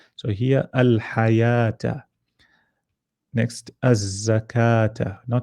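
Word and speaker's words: الزكاة: so this one you you won't pronounce the lam you go straight to the zai because there's a so you'll say as a zakata in so you join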